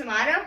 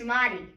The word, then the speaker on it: Amati: It's like I'm Amato, but it's actually Amati. Amati.